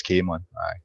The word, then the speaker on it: Camelon: Well, you do get different pronunciations, but the locals refer to it as Camelin, or Camelin.